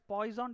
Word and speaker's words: Poisson: Actually, it's pronounced as Poisson distribution.